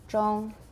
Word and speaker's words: zhong: Same as gong, right? It rhymes with gong. Zhong.